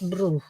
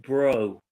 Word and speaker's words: bro: How about this passport brew? Hey, Peter. Good morning. Maria, it's pronounced passport bro. Bro is bro, okay?